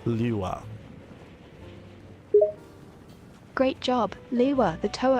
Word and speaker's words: Lewa: I don't know if I'm saying it correctly, so I'll spell it out. It's L-E-W-A, Lewa.